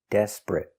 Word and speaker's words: desperate: the pronunciation pronunciation for desperate d e s des p desp r desper a desper t desperate desperate desperate two syllables the stress is on the first syllable desperate not three syllables desperate but two syllables